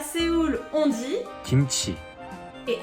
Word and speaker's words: 김치: 음식, Pour finir, pour dire kimchi à Séoul, on dit 김치, et à Busan, on prononce. 찜치.